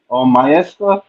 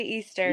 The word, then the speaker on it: Easter: Easter. Easter. Yep. I could have sworn on your Instagram page I see the Mester. It's my middle initial, M. Easter.